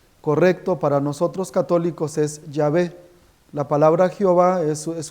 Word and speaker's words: Yahvé: para nosotros católicos la pronunciación más correcta es yavé es la pronunciación que que conservaron los padres de la